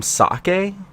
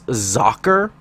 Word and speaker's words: Socke: number four um Z I've actually been calling him sake apparently that's wrong apparently in German because it it's the German word for sock it's zacher so I'm going to try and remember to say it like that from now on but I'm not a